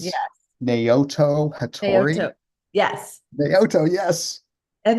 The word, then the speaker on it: Naoto Hattori: Can you pronounce it? Do you know this artist? It's Yes. Naoto Hattori.